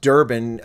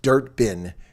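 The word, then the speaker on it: Durban: audience they know that it is not pronounced Durbin um it's pronounced dirt bin just so you know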